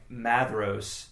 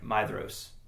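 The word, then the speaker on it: Maedhros: I've had I I started out thinking it was like Madros or, you know, ma uh like Mad Madros and it's actually like Maidos, you know.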